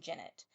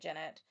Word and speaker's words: Jennet: And so the guy on the documentary pronounced it Jennet, so I'm pronouncing it Janet, but I think it's like Janette.